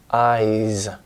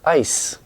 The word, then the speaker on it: eyes: her eyes son dramatic IE as a vowel i voiced and so the S becomes a voiced eyes and he looked at her ice doesn't sound romantic maybe there's a bug